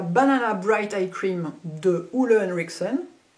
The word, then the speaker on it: Ole Henriksen: Bright Eye Cream de Ole Henriksen. Essayons de le prononcer à la danoise.